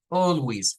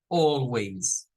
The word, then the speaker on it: always: L y decimos W algunos Pueden decir Always Always así con i Always pero es menos frecuente Así que quedémonos con la más frecuente ahorita para no complicarnos mucho vamos a decir Always Always eh nótese la el sonido de la z al final Always y dice I Always